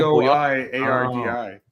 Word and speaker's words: Boyardee: Oh, Boyardee. That's how you pronounce My Google autofill did Chef Boyardee's nuts.